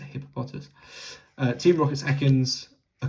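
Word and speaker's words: Hippopotas: I always want to say hippopotamus, but it's a hippopotus.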